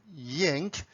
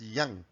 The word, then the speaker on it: yang: people produce it at yank it's up to you but in the original chinese pronunciation it's pronounced as yang and each section we